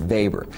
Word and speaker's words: Weber: Max Weber, not Weber, it's not Weber bread. It's the German E with the A, you pronounce it Weber.